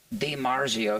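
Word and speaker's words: DiMarzio: Di Marzio is D-I Marzio, right? It's not D apostrophe.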